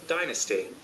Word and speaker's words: dynasty: அவங்க சொன்னது correct, Americans. dynasty, dynasty, ஆனா British people dynasty, Dynasty. Dynasty. டினஸ்டின்னு சொல்லுவாங்க. டினஸ்டி, இதை நோட் பண்ணிங்க இந்த வேர்டு.